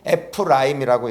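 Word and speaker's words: Ephraim: 한번 읽어보겠습니다 차남의 이름을 에브라임이 하였으니 하나님이 나를 내가 수고한 땅에서 번성하게 하셨다 함이었더라 에브라임 예 근데 원래 원어에서 에프라임이라고 이렇게 발음합니다 즉에 은 뭐냐면은 두 배의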